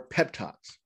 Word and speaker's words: Peptoc: a telephone number for pep talks yep pep talks uh they even spell it p-e-p-t-o-c it's called pep talk it's a free hotline